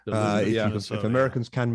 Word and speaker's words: Duluth: Or black bear, and on that one, I've always been corrected on the pronunciation because I on reading it, thought it was Duluth, but I gather from Americans it's Duluth. Duluth.